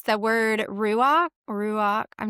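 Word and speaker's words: רוח: Anyway, but it's the word ruach. I'm not saying it right. Cherise, You you're are, I better at think. this. Okay, Mm. ruach.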